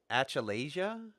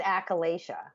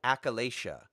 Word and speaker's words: achalasia: I cannot pronounce so I'm going to mangle it Achille Asia it's achalasia achalasia so what is a